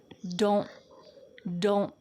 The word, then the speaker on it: don't: So it's not wrong to say don't get bent, but when you hear fast American English speakers, you're gonna hear them stop the T in their mouth.